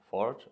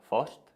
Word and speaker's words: Fořt: well as i said my name is ford or fosht if you can pronounce that and i'm a key